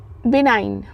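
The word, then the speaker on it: benign: हमारा अगला वर्ड है बिनाइन। ठीक है? बिनाइन। बी इ एन आई जी एन। यहां पे स्पेलिंग जो है इसकी अलग है लेकिन इससे प्रोनाउंस हम अलग करेंगे। बिनाइन बोलेंगे।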